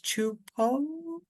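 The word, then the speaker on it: Csupó: It says That's Chu like Choo and then Poh Chupo. It oh definitely is not how wow. I would read it. That no, how I read it is Supo? supo, yeah. Chupo?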